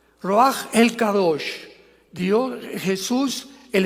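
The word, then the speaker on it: רוח: La palabra para espíritu en el hebreo es la palabra que es roaj, que se escribe ru con ch, pero repito, ese pronuncio pronuncia como J. Roaj, roaj el kadosh.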